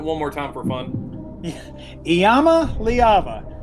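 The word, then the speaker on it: Iamaleava: going to be hearing a lot for touchdowns Yama leava can you just pronounce that one more time for fun Yama leava it's a difficult spelling it's not it's not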